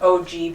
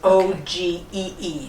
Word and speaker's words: ogee: It's OGEE. That's how you spell it. Oh, Yeah, okay. Yeah. And you'll just see it on mirrors and other furniture too. Sometimes it's called an OG.